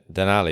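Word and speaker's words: Denali: really interested to hear about Death Valley to den Ali am I pronouncing that right yeah that's right yeah um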